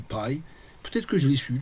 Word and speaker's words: pi: En anglais, ça se dit pi.